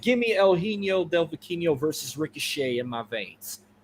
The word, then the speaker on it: Vikingo: I was saying Viking O.